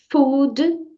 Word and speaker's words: food: F Repita comigo food então food terminou com a letra D E você vai falar essa letra D de forma Sutil não precisa falar food igual muita gente fala fast food comida rápida não é assim que a gente ouve tem que ser uma coisa Sutil sabe então diga F vamos